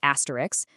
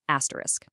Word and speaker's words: asterisk: The mistake a lot of people make is adding an extra sound right there at the end. So, that last syllable should sound exactly like the word risk, not ricks.